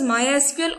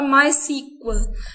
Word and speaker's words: MySQL: Now MySQL, popularly pronounced as MySQL or MySQL.